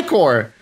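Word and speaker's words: ichor: I can fill with magical aore iore that's pronounced iore yeah iore it's iore all right choose your iore wisely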